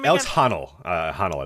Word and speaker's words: Honnold: Honnold, I believe is how you pronounce it.